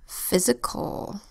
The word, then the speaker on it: physical: Next word, physical. Physical is another 3-syllable word. First syllable, phys, spelled P-H-Y-S. Closed syllable, so the Y makes a short vowel sound.